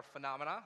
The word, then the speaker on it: Fanamana: Dan this is we are phenomena that's how you pronounce it we're from Washington DC